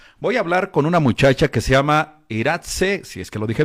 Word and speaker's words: Iratxe: Mi nombre se pronuncia Iratze, pero vamos, como se puede pronunciar con todos los acentos del mundo, como tú lo has dicho, suena precioso.